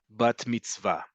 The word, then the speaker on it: bat mitzvah: But in modern Hebrew, the emphasis is always, the default is always on the last syllable. So it's bar mitzvah, bat mitzvah.